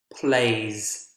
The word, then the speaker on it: plays: of a z pronunciation i think you'll find that the other ones are more clearly z like the next one plays plays with them that's a z consonant sound plays plays and you